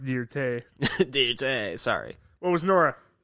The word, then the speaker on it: Dirt: didn't have the right attire for it it's pronounced dear tay today sorry what was nora she was a